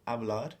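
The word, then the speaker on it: hablar: last two letters so avad is spelled h a b l a r the H as with almost all H's in Spanish is silent so the last two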